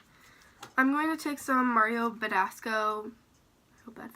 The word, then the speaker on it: Mario Badescu: the inner corner I'm going to take some Mario Badescu so that's how you say it um rose